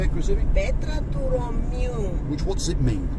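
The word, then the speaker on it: Petra tou Romiou: The area we're coming to now is called Petra to Romeo. Is that how you say it, Chrissy? Petra to Romeo.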